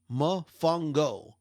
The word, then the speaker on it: mofongo: Mofongo. It's one word, but 3 syllables.